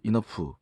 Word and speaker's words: enough: 그 enough 충분히 여기에 이제 GH가 F 발음으로 된다는 거죠.